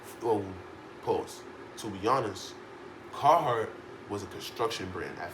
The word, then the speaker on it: Carhartt: It's pronounced. I think it's Carhartt.